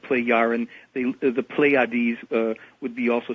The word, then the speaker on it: Plejaren: Plejaren. Plejaren. Yeah, so the J is a Y or an I kind of a sound. Plejaren.